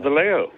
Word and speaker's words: Vallejo: How do you pronounce that? California? It's Vallejo.